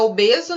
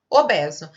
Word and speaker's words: obeso: aqui agora, foi essa obeso, né? Porque no dia a dia nós falamos fechado, mas a pronúncia correta deveria ser obeso.